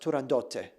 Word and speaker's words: Turandot: Puccini's own granddaughter said it should be Turandot because in Italian it would be pronounced Turandotte with a TTE at the end.